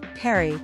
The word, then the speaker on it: Paris: today we will see secret of Paris French pronunciation Perry listen is the capital and most populous city